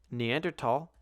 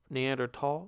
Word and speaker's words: Neanderthal: Neanderthal. Oh, wait, shit. Yeah, if you're not a fucking scholar, it's pronounced Neanderthal, not Neanderthal.